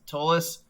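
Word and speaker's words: Ptolus: don't think it's pronounced tallest i don't think you use the p the p is silence because it's spelled p-t-o-l-u-s but from the way i've heard people pronounce it it's the p is silent and it's because patola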